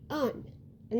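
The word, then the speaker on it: Ondine: The first part is not on, it's un. And the second part isn't dine.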